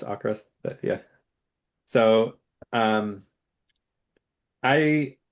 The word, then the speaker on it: AVKRVST: V's, so that's how I'm gonna say it. That's how you say it. I kind of say that that way in my head, even though I know it's Ocrist, but yeah.